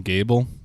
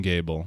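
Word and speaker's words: Gebel: they do but i've only ever called him gable because g-e-b-e-l to me sounds like a biblical biblical name and gable it sounds like a very biblical way of pronouncing it so like as soon as they said geebil in the game i said i'm not calling him that yeah we're not doing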